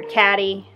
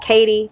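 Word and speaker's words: Cady: And in Mean Girls, the lead character, Katie, her name is spelled C-A-D-Y. And they all called her Katty. But she was like, it's Katie.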